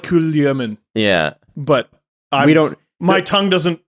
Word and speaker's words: Kulemin: Supposedly, it's more like Kulyamin.